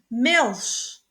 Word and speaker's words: Milch: Après, on a le son CH, après I, E, L, R, prononce chat, le son chat, bien le son chi. Ich, je, I, ich, vraiment, really, Milch, lait, milk, Kirche, église,